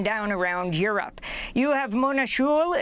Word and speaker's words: Mona Juul: You have Mona Juul, if that's how you pronounce her name, j u u l, the Norwegian ambassador to